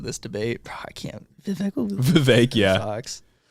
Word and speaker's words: Vivek: debate I can't Vivek Vivek yeah said his name rhymes with cake so have we been